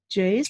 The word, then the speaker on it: Jase: Is that how you pronounce it? Yes, it is. Yes. Jase.